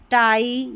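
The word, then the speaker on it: tie: में आएगा आई ई, तो इसको पी नहीं पाई, टाई या डाई ऐसे पढ़ेंगे, और ये लाई।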